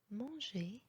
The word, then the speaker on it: manger: هنا le R est muet. Donc exemple pour ça, manger, parler, dessiner.